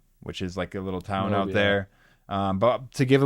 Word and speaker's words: Honobia: The name of the community is pronounced locally Honobia. Honobia.